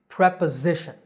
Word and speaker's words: preposition: part of speech it's preposition notice that the s is pronounced as a z sound the stress is on the third syllable z preposition the next word is